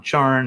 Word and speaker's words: Charn: Charn, not Char. And she spoke something called the deplorable word, a powerful spell which destroyed all life on Charn except her own.